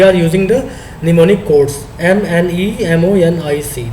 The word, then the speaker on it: mnemonic: We are using the mnemonic codes, MNEMONIC, that is known as, pronounced as the mnemonic codes.